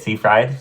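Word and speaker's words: Seyfried: Karen Amanda CED how do you say it sea fried sea Fried Chicken okay I was really young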